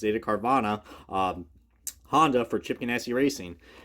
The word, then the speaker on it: Carvana: but I'm going to say how, I properly pronounce it, Carvana, Honda for Chip Ganassi Racing.